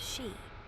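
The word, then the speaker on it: sídhe: They called them she pronounced she.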